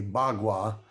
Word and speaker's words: bagua: deals with energy uh called bagua spelled paqua um but any um well-defined person speaking the higher Chinese would say bagua um which is done